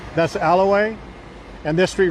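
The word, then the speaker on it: Ala Wai: it's right on the Alay and I am pronounced that correct so don't try and tell me I'm not that's Alaway and this street right here uh it has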